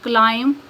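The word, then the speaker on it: climb: पहले है silent B बी इज not pronounced B pronounce नहीं किया जाता या बी आवाज नहीं देता when following M एट द एंड ऑफ a word जब किसी लब्ज के आखिर पर एम के बाद आए फॉर एग्जांपल क्लाइम क्रम डम कॉम नेक्स्ट है साइलेंट सी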